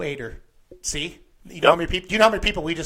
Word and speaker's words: Eder: announcers say your name eater and as I've heard announcers say your name is Ed er how do you say Joe's last name this pronouncing with an a ater Joe ater see you do you